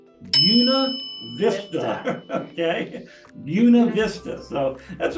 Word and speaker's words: Buena Vista: much any other place you're going to say that as Buena Vista okay that's not the way it said okay you definitely know if you're out of town or if you go down and you say hey how y'all doing Buena Vista yeah because it's Yuna Vista okay Buena Vista so